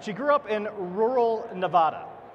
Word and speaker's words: Nevada: grew up in rural Nevada Nevada you have to say it like apple I'm I'm a I'm